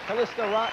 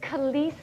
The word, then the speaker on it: Calista: Kalista on her way out.